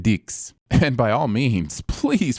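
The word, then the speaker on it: dix: him no Mr cier in French the number 10 is pronounced dicks and by all means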